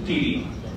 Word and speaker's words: Khiri: The word Khiri means throne is pronounced Thiri.